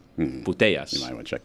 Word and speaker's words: Putellas: That's her name, Putellas.